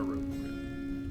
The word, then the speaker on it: rougarou: Rougarou, not Rougarou. Because it's spelled Rouge.